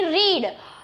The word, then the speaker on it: read: रीड V1 है, रेड रेड, और V2 V3 है। V2 और V3 को हम रेड बोलेंगे, भले ही उसका स्पेलिंग सेम ही रहेगा, लेकिन उसका प्रोनाउंसिएशन अलग हो जाएगा। V2 और V3 का होगा रेड, रेड, RED, जैसे को RED रेड है, उसे हम जो बोलते हैं वो हो जाएगा रेड।